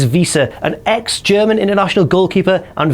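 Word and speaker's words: Wiese: And another figure who's kind of less certainty of superstardom, Tim Visa or Vice, I'm not really sure what he's going to be buil as, but the German pronunciation is Visa, an exger international goalkeeper and Vera Braman goalkeeper as well.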